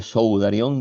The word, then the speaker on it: sudarion: Sudarion que no lleva acento en la O. El acento lo lleva en la A, pero no se pone, es un acento fonético.